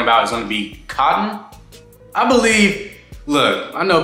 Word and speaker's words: KOTN: is going to be cotton I believe look I know people would be pronouncing things different so it may be pronounced different but k-o-t-n sounds like cotton to me but cotton Brandon reached